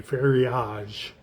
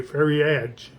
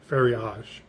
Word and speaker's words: ferriage: Ferriage. Uh soft G sound. Um and again, people first reading it would say ferriage, ferriage. You know, like steerage. You know, it's like, no, ferriage. Ferriage.